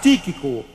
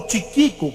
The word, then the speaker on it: Tíquico: não sei pronunciar bem tiquico eu creio que ele escrevia para o apóstolo Paulo e era também ele que entregaria aquelas cartas tíquico ou tiquico como você preferir pronunciar seu nome pois bem chegou então